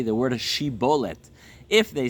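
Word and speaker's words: שיבולת: tradition this existed uh were not able to properly pronounce Shin they would often pronounce Shin as a sin and so the people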